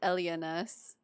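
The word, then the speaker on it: Elynas: I always pronounce it Elinas, so it's really interesting to hear her pronounce it Elianas.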